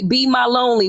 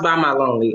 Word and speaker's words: Be My Lonely: Okay, Be My Lonely. What's up, girl? It's pronounced By My Lonely.